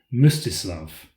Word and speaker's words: Mstislav: baptism, and finally stumbled badly when trying to pronounce the name of one of Vladimir's sons, Mstislav.